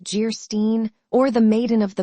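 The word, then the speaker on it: Geierstein: "Anne of Jairstein, pronounced Jeerstein, or the Maiden of the Mist, by the author of Waverley."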